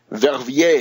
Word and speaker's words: Verviers: In particular, the town of Verviers, Verviers. Verviers. It's amazing to hear how few American or British, even worse, TV correspondents have any idea of the pronunciation of French.